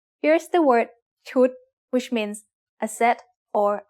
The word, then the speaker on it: ชุด: What's the tone of ชุด? It's a low-class consonant with a dead syllable and a short vowel that makes it high tone.